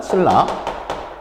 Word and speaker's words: 신라: 신라 가볼까요? 신라. 자, 뭐가 되죠? 리을로 변하니까 유음하잖아요.